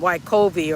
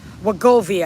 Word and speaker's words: Wegovy: Do I need to get me some Wegovy or Wegovy, I should say. I might have been saying it wrong, or the semaglutide, the Zepbound, the Manjaro, whatever it is I need.